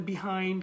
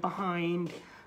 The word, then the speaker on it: behind: বলে বিহাইন্ড, কেউ বলে বাহাইন্ড, আপনি একটু শিখে রাখেন। ব্রিটিশ যারা প্রোনাউন্সিয়েশন প্রেফার করেন বা ব্রিটিশরা বলে এটাকে বিহাইন্ড, যারা ইউএসএ আছেন বা থাকেন বা যাদের প্রোনাউন্সিয়েশন ইউএসএ প্রোনাউন্সিয়েশনটা হচ্ছে বাহাইন্ড, ঠিক শেডিউল এবং স্কেজিউলের মতো।